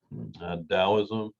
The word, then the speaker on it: Taoism: in china and japan taoism notice the t is pronounced with the d that's because of the